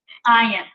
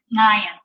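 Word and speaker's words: עין: It's pronounced by taking the back of your tongue and pressing it up against the back of your throat. So it's Ayin, Ayin.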